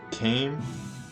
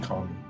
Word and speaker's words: Kami: Uh, some people pronounce his name uh a different way. I do not prefer saying Kane. I'm I'm pretty sure this guy's name is Kami because of Kamiha.